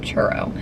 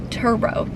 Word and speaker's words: Turo: car go to I always mess up the pronunciation turo churo it's not churo turo t r r o and you can sort